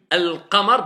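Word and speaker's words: القمر: Ça renvoie vers lunaire, lune, al-qamar, donc on prononce le lem.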